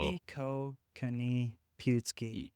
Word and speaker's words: Ipiihkoohkanipiaohtsi: I am running in Ward Ipiihkoohkanipiaohtsi. So Ipiihkoohkanipiaohtsi. you almost got it. Just There. that Pewtsy at the end. Pewtsy. There we Yeah.